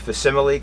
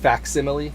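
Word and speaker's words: facsimile: I'm sitting we have a spinner rack of fimile comics which have reprint old Comics which which is actually pronounced faximile fact simile okay and uh but um you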